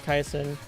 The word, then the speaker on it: Kaison: It's very funny that I didn't make that mistake because I have had people pronounce Kaisen as Kase. I'm like, "No, no, it's it's Kaison."